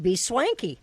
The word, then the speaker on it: BSwanky: I said it right I said it right be swanky okay I like that that's much easier to know that I did that correctly because I wasn't a